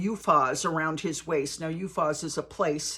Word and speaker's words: Uphaz: Now, Uphaz is a place. It's spelled U-P-H-A-Z.